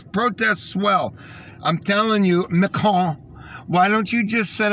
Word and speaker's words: Macron: Francis Macron, right?